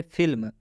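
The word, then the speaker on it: film: जैसे फिल्म, फिल्म में भी एम से पहले एल आया हुआ है, लेकिन इस एल का उच्चारण आधा लॉ से किया गया है।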